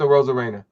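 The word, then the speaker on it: Arozarena: Aroma Reina. Is that how you say it for Tampa? A rose con pollo, but it's a Rosa Reina.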